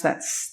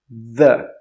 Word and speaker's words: the: But the second way to pronounce TH is voiced. That means your throat will vibrate.